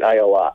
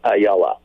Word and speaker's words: Ayala: And I said, "I think it's Ayala." Did I get it right? Or it's actually the Hebrew version, and you've got it exactly right, Ayala. The English American version is Ayala.